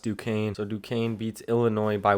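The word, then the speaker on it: Duquesne: not saying it earlier I guess it's pronounced Duane so Dukane beats Illinois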